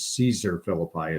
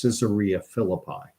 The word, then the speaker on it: Caesarea Philippi: outside of caesarea Philippi which I often mispronounce as Caesar Philippi it's caesarea Philippi and Jesus is outside